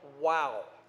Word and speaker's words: Wau: in a town called wow now when you get there you'll understand why they said wow but it's spelled a little bit different wau instead of w-o-w but still the same wow is one of those